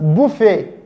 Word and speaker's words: buffet: Because in our lesson we said this sound has a silent, it's pronounced buffet, it's pronounced ballet, and it is pronounced debut.